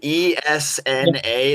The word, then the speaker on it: Esna: It's also the way it's spelled. E S N A. That's Esna, you know.